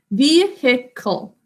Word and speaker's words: vehicle: a car vehicle good we think to spell this as vehicle it has a silent sound it out with